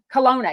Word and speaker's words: Colonna: Yes, Sarah Cologna. Is that how you pronounce it? Colonna.